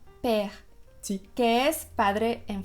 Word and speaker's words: père: Es como la E que usamos en la palabra comer. Entonces, ¿nos puedes dar un ejemplo en francés de una palabra que se pronuncia con la E? Père, Sí, que es padre en francés.